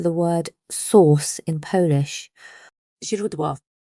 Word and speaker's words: źródło: This sounds like a soft Z as in the English word azor, or the S in measure but softer.